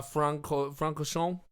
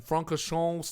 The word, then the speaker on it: Francorchamps: So, Circuit de Spa Francorchamps, I think is how it's pronounced.